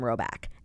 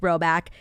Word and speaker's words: Rhoback: Roback is amazing.